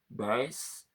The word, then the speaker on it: Joan Baez: How is pronounced? Not so easy. Baez. Joan Baez.